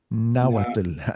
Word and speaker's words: Nahuatl: Nahuatl.